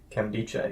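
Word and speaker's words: Nkemdiche: Kemdiche, yep.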